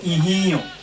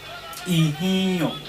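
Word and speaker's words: Ihinlon: Ihio, the way it is written, that is not the way it is being pronounced.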